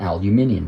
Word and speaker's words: aluminium: As the name implies, the al part is aluminum, or aluminium if you pronounce it that way.